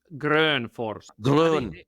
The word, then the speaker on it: Grönfors: F it's actually pronounced gr Force it it depends a lot from it's a Swedish speaking name so it depends where